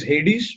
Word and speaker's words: Hades: I think the god is Hades, Mr. Lobo. Hades, yeah, right, sir. Hades, yes, Okay, we correct. pronounce it Yeah, as Hades.